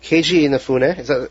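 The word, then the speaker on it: Keiji Inafune: Keiju Inafune.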